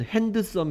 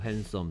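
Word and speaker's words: handsome: 성 헬 소매 특징은 이 단어를 실제로 보면 핸드 섬 이라고 읽어야 될 거 같이 생겼어 왜냐하면 에 하고 소리 안 난 뒤 가 있기 때문에 팬 그 다음에 썽 붙여서 헬 썸 됩니다 태안 썸 아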